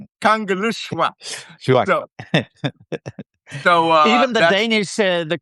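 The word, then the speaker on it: Kangerlussuaq: If you see L, it makes the sound of like super sloop. So Kangaluswa.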